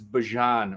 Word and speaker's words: Bijan: Oh, by the way, it's not Bijan Robinson, I heard. It's Bijan Robinson. So think Dijon.